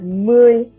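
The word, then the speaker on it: mươi: um is now pronounced as lam not nam so and the number 10 is pronounced as muy for numbers 20 through 99.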